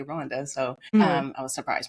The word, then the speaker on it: Rwanda: Some people pronounce it Rwanda, but the people from there say Rwanda.